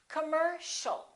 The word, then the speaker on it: commercial: And the final word, once again, the second syllable is stressed. The O and the IA are both reduced. So it's not com or com, it's cum. Commercial. Don't say commercial or commercial, it's O. Commercial.